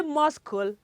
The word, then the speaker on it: muscle: And the next one, M-U-S-C-L-E. Do you say muscle? I'm sure you don't do that, right? It is what? It is muscle.